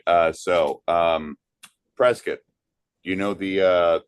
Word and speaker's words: Prescott: What is the something that Trescat, Arizona, not Prescott, by the way? Just do a little uh lesson in in pronunciation. Pres Valley. Uh yeah. Yeah. Prescuit Valley and Prescuit.